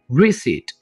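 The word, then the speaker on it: receipt: English में रिट कहेंगे यहां पर आपने पी को साइलेंट रखना है रिट पैसे वापस करने को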